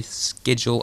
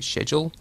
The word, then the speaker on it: schedule: how we pronounce it you say schedule I say schedule the exception to this